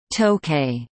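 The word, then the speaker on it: Tōkei: nan Jiang nan Jie during the early Meiji period the city was also called tokay an alternative pronunciation for the same characters representing Tokyo making it a kanji homograph some surviving official English documents used the spelling tokay however this pronunciation is now obsolete the name Tokyo was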